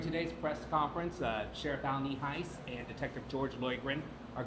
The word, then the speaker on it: Nienhuis: It's spelled Nienhuis, and it's pronounced Nienhuis.